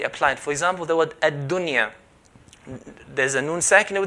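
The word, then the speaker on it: الدنيا: So we're going to pronounce it as ad-dunya, ad-dunya.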